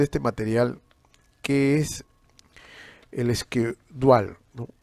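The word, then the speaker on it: schedule: Habíamos hablado de este material que es el escudual, ¿no? Escudual, así se pronuncia, ¿no? Escudual. Algunos le dicen chedul, ¿no? Chedul, pero no, o sea, en inglés, squash dual, ¿no?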